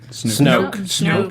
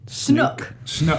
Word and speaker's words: Snoke: Also, they also mentioned that this new villain character, this Snoke It's character. pronounced two different ways in the movies. One person calls it Snoke, and one person calls it Snook.